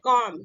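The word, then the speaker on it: calm: examples के देखते हैं यहां पे सी ए ल एन यहां पे देखिए ल जो है आपका क्या है साइलेंट है इसको क्या पढ़ेंगे कलाम नहीं पढ़ेंगे इसको हम पढ़ेंगे कम ठीक है उसके बाद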